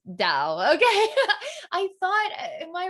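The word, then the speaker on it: Tao: the tau is pronounced dao okay i thought in my recollection i thought it was a d a d sound so dao okay excellent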